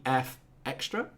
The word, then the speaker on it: EFXtra: We will also be looking at the HobbyKing product profile for the EFXtra.